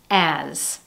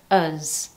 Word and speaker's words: as: However, when used in a sentence or in combination with other words, it becomes unstressed, and as a result, you don't hear as, you hear uz.